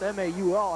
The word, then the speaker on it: Mahoney: stop along with Kyle ball the fullback it's pronounced ma you all I was talking to dick grapes at halftime